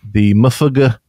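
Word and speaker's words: MUFG: going to be changing, and that's mainly the Mufuga capsule. How do you say it? The Mofo capsule. Mofo.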